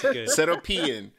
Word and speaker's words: Seropian: That's, I didn't even know it was pronounced really. That's how you say it. Seropian.